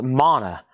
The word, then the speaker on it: Mana: And this is pronounced Mana. M A N A.